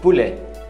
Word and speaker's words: poulet: Peito de frango, filet de poulet, filet, não pronuncia o T, de, poulet, poulet ou poulet. Então, depende da região. Poulet, não pronuncia o T também.